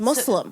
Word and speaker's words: Muslim: it's actually not because people say it like there's a zed like it's muu Z but it's mu s it's Muslim we Muslim Muslim so